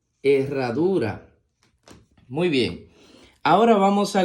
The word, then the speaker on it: herradura: la siguiente palabra dice la H con la e suena e la doble R con la a suena más fuerte ra la d con la u suena du y la r con la a suena ra e ra du ra Herradura muy bien Ahora vamos